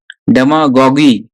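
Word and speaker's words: demagogue: तो ये जो है ना, यू को बोलना नहीं है, यू ई को साइलेंट है। क्या पढ़ोगे आप? सिर्फ जीओजी पढ़ोगे। डेमागॉग। याद हो गया? प्रोनाउंसिएशन बहुत इंपॉर्टेंट है इसका, देख लो। क्या पढ़ना है? डेमा, जीओजी, जी, इसको साइलेंट है, ये यू ई is silent. डेमागॉग।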